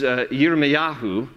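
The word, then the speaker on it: יִרְמְיָהוּ: were in Isaiah's time Jeremiah's name in the hebrew is yirme'yahu that's how you pronounce it hear me ah who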